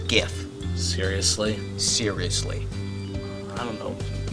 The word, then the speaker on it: GIF: the voice of god himself told you it's pronounced gif seriously seriously i don't know maybe it's pronounced gift i'm still not convinced uh yeah